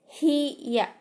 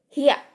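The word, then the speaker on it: ひゃ: Seharusnya kalau ini gede huruf ya-nya, maka bacanya hiya. Tapi karena ya-nya kecil nih di bawah nih, maka jadi hia.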